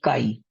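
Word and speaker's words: χ: ये जो x जैसा सिंबल है, ये काई बोलते हैं इसको। क्या प्रोनाउंसिएशन है इसकी? काई।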